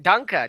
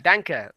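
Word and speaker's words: Danke: thank you again Andy Dan Dan dank memes um no that's not it that's not right Danka Danka what are you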